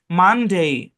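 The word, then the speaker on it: Monday: ওরকম এটা MON, মন না, মান।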